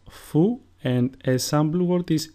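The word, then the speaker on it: Φι: Phi, which is pronounced fou, and a sample word is φίδι, which means snake.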